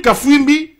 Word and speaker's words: Kafimbi: Il désigne Patrickfumbi, je crois je crois prononcer le nom euh euh correctement. Donc Patrick Kafimbi oui c'est comme ça Patrick Kafimbi.